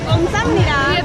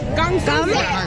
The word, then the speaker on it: 감사합니다: There's another syllable in there though. What? Yeah. What? Say it. You say it. I don't say it though. Jen? How do you say it? Okay. Excuse me. How do you say thank you? 감사합니다. I said it right. No, Shut up. 5 syllables. 감사합니다. 감사합니다. 감사. He says 5 syllables.